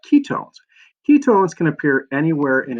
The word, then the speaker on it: ketones: chain like an aldehyde the suffix ending here is own pronounce it own as and you own something not one something and that so ketones not ki kept ones ketones and that are they